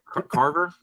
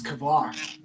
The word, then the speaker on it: Kavar: Wait, so it's Kavar? It's not Carver? I mean, don't go by me. I'm not one to pronounce things. I think he's right. I think it's Kavar.